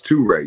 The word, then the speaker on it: TuRae: All right, TuRae, which is spelled T-U. That's a capital R-A-E. It's TuRae, yes, ma'am.